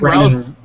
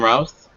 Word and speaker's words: Routh: Brandon Routh. It's Brandon Routh. It's Brandon Routh. His name. Routh. I looked it up. It reminds. So first, of somebody said in the chat, it rhymes with South.